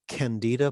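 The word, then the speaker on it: Candler: to say this right is it the candida playwriting contest did i say it right yeah you did yes that's the so there's a yeah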